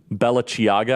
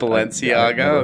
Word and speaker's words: Balenciaga: talks about I don't even know how to pronounce this company's name Bella chiaga I guess that's right I don't know yeah Balenciaga okay yeah I'll play cut 58.